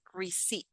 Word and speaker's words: receipt: I noticed that in the word receipt, we don't pronounce this P. We say receipt. Receipt. The stress is here.